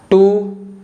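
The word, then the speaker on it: two: कोई रूल नहीं है जैसे कि सोड टू और आंसर तो इन तीनों वर्ड्स में जो लेटर डब्लू है ना किसी भी लेटर के पहले आ रहा है इसलिए जो लेटर डब्लू है यह साइलेंट है ओवरऑल हमने साइलेंट लेटर्स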